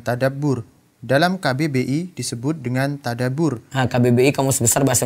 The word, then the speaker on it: tadabbur: Dalam KBBI disebut dengan tadabbur. Nah, KBBI Kamus Besar Bahasa Indonesia ya. Kalau di bahasa Arabnya itu tadabbur. Ba-nya ada tasydid.